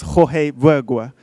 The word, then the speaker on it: Jorge Bergua: pronunciation is Jorge Bergua.